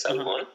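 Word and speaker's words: salmon: es la el Salmón salmón como palabra que se escribe en en español se escribe igual que en inglés salmón pero en inglés la la l no se pronuncia claro Entonces entonces uno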